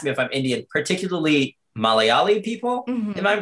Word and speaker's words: Malayali: And it's funny because like Indian people will ask me if I'm Indian, particularly Malayali people. Mm-hmm. Am I pronouncing that correctly?